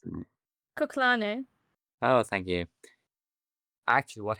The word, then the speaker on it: Kuklane: and Rafaela Ferreira crashed with a guy called Kuklana? I don't know how you pronounce it. Kuklane.